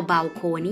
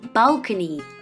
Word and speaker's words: balcony: ค่ะ ระเบียง เรียก ว่า balcony นะ คะ อ่า ให้ เน้น ที่ คำ ว่า เบ เ bcy นะ คะ อ่า ไม่ เอา บาโคนี่ เนาะ balcony ระเบียง นะ คะ ต่อ